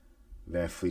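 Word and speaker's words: VanVleet: Van Fleet is probably the correct non-American pronunciation.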